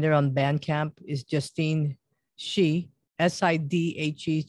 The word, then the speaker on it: Sidhe: Is Justine Shee, Sidhe. So Justine Sidhe. That's how you pronounce it, as she, but it's spelled a little differently there.